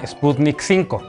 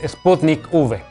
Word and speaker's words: Sputnik V: se llama sputnik 5 la ub no corresponde al número 5 romano sino que hace referencia a la palabra vaccine o vacuna así que no caigas una paparruchada la forma correcta de pronunciar el nombre de esta vacuna es sputnik v por cierto esta es